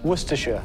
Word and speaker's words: Worcestershire: got Eric Shire or sister Shire it's actually pronounced Worcestershire it's like Leicester the Leicester no I can